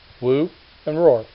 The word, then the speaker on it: Wu-Rorrer: pronunciation of my name keep it simple woo and roar like a lion if you can't get it or can't remember just do your best scooby-doo and personation and say dr.